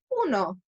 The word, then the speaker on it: uno: So we're not going to say you know, like the card game that we all like to play. We're going to say uno.